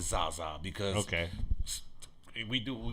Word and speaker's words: Zsa Zsa: spelled like zsa okay it's actually spelled like zsa i just pronounce it zaza because okay we do